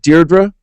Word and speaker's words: Deirdre: You, as the grandniece of Al Capone, Deirdre, do you pronounce it Deirdre?